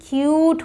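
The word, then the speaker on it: cute: है अब यू है सीटी कट होता है बट सीटी क्यूट होता है तो यू साउंड आएगा यहां ट्यूब फ्लूट अब देखिए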